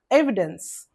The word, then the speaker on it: evidence: Syllable syllables evidence evidence three syllabic word three syllables are there first one first syllable is stressed evidence evidence okay not evidence if